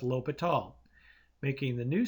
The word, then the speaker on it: L'Hôpital: However, in the 1740 edition of the Dictionary of the Académie Française, the circumflex symbol was introduced to replace the silent S in words such as L'Hôpital, making the new spelling